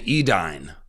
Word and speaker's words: Edain: they were called the edine the and then later the dunad but it's spelled it looks like dunadan or Edan it's a i n even though it's said dunad and edine but let's just say